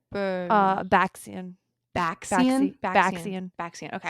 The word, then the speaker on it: Baxian: Baxian.